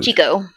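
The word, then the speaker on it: Chicot: off the chot uh is it pronounced Chico or chot Chico Chico The Cho Chico State Park that is what north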